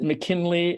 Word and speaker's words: McKinlay: but do you just pronounce it McKinley I pronounce it McKinley and I smiled with tremendous pleasure when you